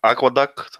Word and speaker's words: aqueduct: But we built one big aqueduct. How to say it? Aqueduct, Aqueduct. Mm-hmm. like a duck, like aqueduct. Oh, there's a T on the end.